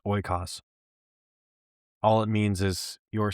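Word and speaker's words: oikos: It's pronounced ooas.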